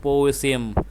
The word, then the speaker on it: possum: The word is pronounced possum with the stress on the first syllable.